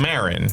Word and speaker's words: Maron: his last name is spelled Maron. But it's people just say it like Maron, right? Like Maron, Mark Maron.